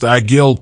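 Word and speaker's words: עגל: likely based on the Hebrew word for bull egil pronounced agil 0.54 anciently the Bullock was an identifying sign of the tribe of Ephraim Deuteronomy 33 verse 17.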